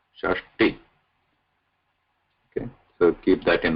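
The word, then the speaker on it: षष्टि: T, this is Alpa Pranata, not Tha, not Shashti, Shashti.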